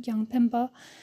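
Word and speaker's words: རྒྱང་འཕེན་པ: Secondly, the materialists who name whose name in Tibetan pronounced gyang pimpa has different meanings depending on how it's spelled.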